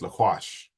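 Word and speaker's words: לקח: The word for take that we're going to get into is going to be this one here that's spelled with lamed, quaf, and chet. So it's laquash.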